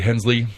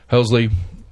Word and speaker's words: Helsley: that where apparently uh debbie hensley helsley i always say her name wrong whereas it's right here i saw a second ago hellsley who's running for mayor